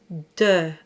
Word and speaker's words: de: So it's de, as if you were saying D-U-H, de. It's just a little rounder than de.